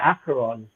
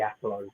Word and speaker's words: Acheron: Did I pronounce it right, Tommy? I think so, yeah, Acheron. Yeah, I mean, some people pronounce it Acheron. I think it's one of those words that's so old that no one really even knows how to pronounce it anyway.